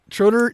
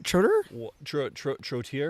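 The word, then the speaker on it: Trottier: And one of the things I really liked is when David Trotter, how do you say it? Trotter? Trotier? Trotier. There you go. Trotier, David I think.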